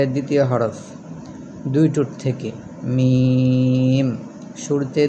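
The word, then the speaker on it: ميم: হরফ দুই টুট থেকে মিম শুরুতে দুই টুট থেকে শুরু হবে এবং শেষেও দুই টুটের সাথেই মিলে যাবে মিম আবার বলেন মিম কয়েকবার বলেন মিম মিম মিমি মিম এখন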